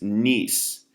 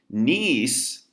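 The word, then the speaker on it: gneiss: foliated metamorphic rock is nice nice search with a G you don't pronounce the G but G and you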